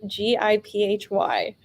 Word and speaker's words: Giphy: pronounce it probably yes i think that many folks pronounce it giphy i'm a gift person but i think it's good to know that we have some balance here in our hosting team we've got a jeff person and we got a